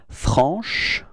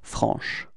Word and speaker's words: franche: Feminine form is franche, okay? So I insist a little bit on the sh at the end, but it's that's the